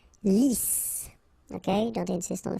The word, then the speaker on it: lisse: Double S here, so it's really a strong S. Lisse.